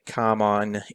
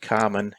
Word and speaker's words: Carmine: pencils pencils are by carmine infantino i think it's actually pronounced carmen infantino and he together with two